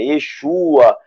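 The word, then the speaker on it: ישוע: Jesus é nome interpolarizado, paganizado. Chama Yeshua mesmo, né? Yeshua. Tá, os 7 filhos de Seva eram judeus e pronunciavam o nome de Jesus da forma correta. Yeshua.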